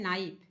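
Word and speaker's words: knife: नाइफ means चाकू होता है। के साइलेंट है। साइलेंट वाला वीडियो एक बार जरूर देख लीजिएगा ताकि आपको अंग्रेजी का उच्चारण करने आ जाए। यह है नाइफ।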